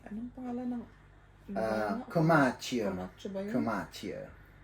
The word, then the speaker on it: Comacchio: pangalan ngo ba yun kamacho Dapat ganito ang pagpronounce mo nasa Italy kamacho ganon o may arte may